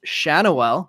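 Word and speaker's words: Schanuel: while watching this game that Nolan's uh name is pronounced shanell so I had a couple guesses and neither of them were right all right I'm going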